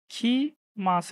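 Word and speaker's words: きます: না কেন এখানে আছে খি মাছ হ্যা খিমা এখন এখানে কিন্তু লেখা দেখেন কি মাছ আমি বললাম খিমাছ এখানে দেওয়া আছে কিমা জাপানিজরা উচ্চারণ করে কি এটাকে খি হ্যা খি মাছ এই এই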